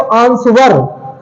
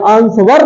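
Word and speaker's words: answer: silent है ठीक है अगला है हमारा आंसर आंसर लेकिन इसे देखा जाए तो आंसर आंस व ब जाएगा आंस व नहीं होता आंसर होता है इसमें क्या साइलेंट है डब्लू साइलेंट है आपको साउंड से पता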